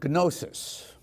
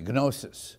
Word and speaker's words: gnosis: It comes from the Greek term gnosis. There you can use the hard G, gnosis, which means knowledge.